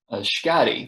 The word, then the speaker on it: Schady: Schady, rhymes with body.